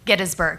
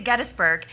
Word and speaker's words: Gettysburg: We visited Gettysburg, Gettysburg. I realized I been saying it wrong all this time. So we went to Gettsburg where 60,000 men died